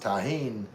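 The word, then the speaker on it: tahini: Pronounced taheen like Charlie.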